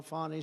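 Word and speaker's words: Fani: generals and fonny fny you know fonnie spelled f a n i my name is fonnie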